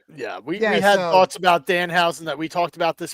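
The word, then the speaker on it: Danhausen: We We had thoughts about Dan Housen that we talked about this past Sunday. See, I said his name wrong. I said Dan Hower.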